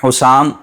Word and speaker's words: حسام: بڑی تکلیف دیتی ہے۔ بہرحال حسام یہ ہے صحیح تلفظ۔ حسام کا مطلب ہوتا ہے تیز تلوار یا تیز تلوار کی دھار، حسام، تو یہ صحیح تلفظ ہے۔ حسام نام رکھیں، حسام